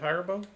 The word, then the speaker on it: Haribo: so what's up I'm the Haribo guy is how you say it Haribo Haribo Keith Dustin bourbon